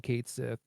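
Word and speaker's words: Cait Sith: The Japanese pronunciation is Ketshi, but then they did localization for the remake, and they were just like, yeah, we're just gonna call him Kate Sith, and like back in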